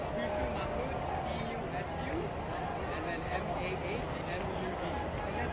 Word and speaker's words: Tusu: Oh, it's Tusu Mahmoud, T-U-S-U, and then M-A-H-M-U-D. And then pronounce it for me.